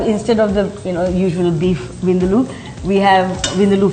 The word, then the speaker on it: Vindaloo: in our restaurant is for Vindaloo, as it's correctly pronounced, because next time we go to an Indian restaurant, Colette, say Vindaloo, they'll treat you so much nicer. Vindaloo. Yeah. Okay. Because, I mean, most people say Vindaloo, but that's not really the correct way.